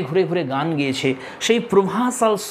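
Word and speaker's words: Provençal: Dear friends, এটা একটা French শব্দ, দেখো বানান অনুযায়ী প্রুভেনকাল এরকম হয়, কিন্তু এর প্রোনাউন্সিয়েশনটা হবে প্রোভাঁসাল সং।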